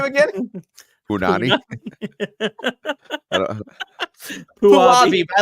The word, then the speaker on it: Puabi: Puabi, but I like Punani better.